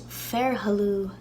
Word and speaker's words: fhéarthalamh: link down below, that FH is silent. So it's almost as if the word begins with a vowel. Sanasach, fhuasach, sanasach. Next, on the prairie. Prairie is fhéarthalamh, fhéarthalamh.